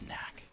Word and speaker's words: NACC: n a double c big plays knack it's pronounced knack or like nask if you want to like do like a